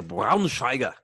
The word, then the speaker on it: Braunschweiger: I don't even can you pronounce it? I would say a Braunschweiger.